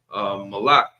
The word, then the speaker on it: Molech: And and Molech, from my understanding, that's not even a formal name. That's just kind of a generic title. Malik, it means king. I'm just giving a different pronunciation here.